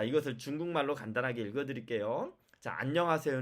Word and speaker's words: 안녕하세요: 읽었죠 안녕하세요 이렇게 된겁니다 그런데 만약에 여러분이 쭈 암 혹은 완 안 봐 난 이렇게 잘못 읽으면 띄어 읽기 를 잘못 읽으면 마치 안녕하세요 어떻게도 읽은게 되느냐 안 명 아아 3 요안 명 하세요 이렇게 읽은게 됩니다 한국사람 중에 안 명 하세요 이렇게 말한 사람이 있나요 억 쪼 내 요즘에는 기계도 ai 도 그렇게 있지 않습니다 그쵸 자 그러면 이 중에서는 안녕하세요 이렇게 읽어야만 한국어 인거죠 한국어의 단어를 정확하게 읽은게